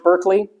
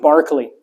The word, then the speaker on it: Berkeley: I said is George Berkeley sorry George Barkley it's gonna just it's just the bad pronunciation is in my mind because of UC Berkeley right it's Berkeley so